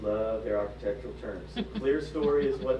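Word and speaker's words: clerestory: Now there's a word here in the description, clear story is how you pronounce that.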